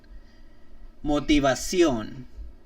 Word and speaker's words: motivación: Whenever you start to see the word sion, or like the syllable sion, S-I-O-N, I-O-N, C-I-O-N, they're most definitely going to be, or guaranteed, accent mark on the O at that very last word.